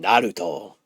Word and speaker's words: Naruto: an R and kind of like an L at the same time. That's why and specifically it goes back to Yuri Loenthal in the English dub of Nar pronouncing Nar's name like Naruto. He would call him Naruto because that's how you say it.